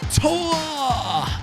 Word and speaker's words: Tor: Or should I be screaming Tor? That is how you say it in German. It does sound like Tor from Marvel movies, but Tor means goal.